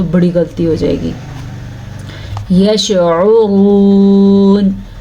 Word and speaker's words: یشعرون: یشعرون، عین کے تلفظ کا دھیان رکھنا ہے، را کو پر پڑھنا ہے کیونکہ را کے اوپر پیش ہے.